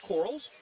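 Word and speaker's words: Qarls: Coach Q spelled q a r l s pronounced corals Franklin Simpson and you know Coach Q enough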